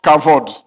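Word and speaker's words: כבוד: c'est le mot cabode on écrit cabod mais on prononce cavod dans le grec c'est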